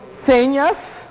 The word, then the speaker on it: señas: va a indicar que la sílaba tónica va a estar en, ¿será que va a ser C o va a ser ñas? Hagamos la prueba. Señas. o señas. Ah, muy bien. C sería mi acento, estaría mi sílaba tónica, y ña sería mi sílaba atoná.